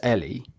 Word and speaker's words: Eli: It's the way it's spelt makes me want to say Eli. Yes. You boy, Eli. Yeah. It's Ellie, yeah? It's spelt Ellie. It's spelled Eli. Mm-hmm. We say it as Ellie. And then in the film, they say like Eli or something.